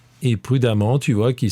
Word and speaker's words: prudemment: prudent tu trouveras l'adverbe prudemment et prudemment tu vois qu'il s'écrit d'une façon très particulière EMM ent c'est un E qui se prononce a comme dans femme je te laisse faire